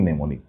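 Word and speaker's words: mnemonic: বলা হয় নিউমোনিক process নেমনিক বানানে কিন্তু এম নেমনিক প্রথমে কিন্তু এম আছে এম নেমোনিক সিউডনিং বানানে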